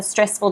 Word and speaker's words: stressful: if she has a stressful job. Yeah, it looks like it. She's not very happy. Okay? And the reason that we know that that stress, that first syllable is stressed, is because of this apostrophe before the syllable.